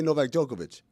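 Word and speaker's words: Novak Djokovic: Even though it ends with a C, we say NovakJokovic.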